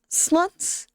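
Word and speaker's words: slott: words on TikTok, and, it's pronounced slut, I think. Almost sounds like the English word for slut.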